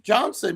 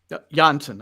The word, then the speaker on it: Jansen: so let's see if Johnson is that guy who's going to do that I'm sorry jansson I just want to make sure right I'm trying to say it properly okay I'm trying to